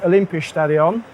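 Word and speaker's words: Olympiastadion: here in Berlin at the well rapidly filling Olympia stadion is that pronounced correctly excellent um so my name is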